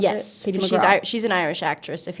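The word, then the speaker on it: Katie McGrath: Is that how you pronounce Yes. it? Katie McGraw.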